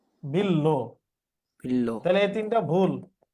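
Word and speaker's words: বিল্ব: আর এটা কি বিল্লো নাকি বিলবো? বিলবো বিলবো না, এটা হবে কি বিল্লো। বিল্লো। তাহলে এই তিনটা ভুল, আর এই ভস্মস্তব ঠিক আছে। বুঝছি? জি হ্যাঁ, এই যে বিল্লো রানী লিখতেছে, মোস্তাফিজ তো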